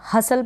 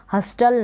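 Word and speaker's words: hustle: हसल पढ़ दिया आपने, इसको रीड कर दिया। हस्टल नहीं पढ़ेंगे, हसल का मतलब होता है धकेलना, हसल धकेलना। हस्टल नहीं पढ़ेंगे, टी साइलेंट है।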